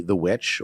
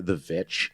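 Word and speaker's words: The VVitch: quick I just want to praise the movie The Witch or the vitch the vitch yeah the vitch it is apparently it's properly pronounced that way that movie generally fantastic it's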